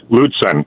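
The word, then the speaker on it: Lutsen: Yeah, it's it's uh Luden, right?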